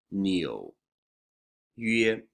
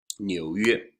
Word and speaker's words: 纽约: 纽约 also is a little tricky because there's that really high the 吁 sound 纽约.